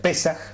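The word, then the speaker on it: Pesach: arranca la palabra pascua viene de una palabra hebrea que se pronuncia pesas y que significa pasar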